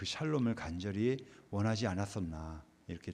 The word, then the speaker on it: 샬롬: 이사 나눌 때도 샬롬 샬롬 하죠 살롬이 아니고 샬롬입니다 샬롬 발음이 좀 제가 저기